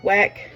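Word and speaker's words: Weck: really like wck jars Wick wck depending on where you are is how you pronounce it um I do wck um they have the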